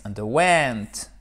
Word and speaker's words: underwent: Underwent. OK? Vous avez un petit accent ici, underwent. Et un gros accent tonique ici.